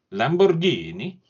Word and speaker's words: Lamborghini: highlights the nonsense oh God go on the Lamborghini sorry let me just pronounce that properly Lamborghini yes a 6.5 L V12 oh yeah yes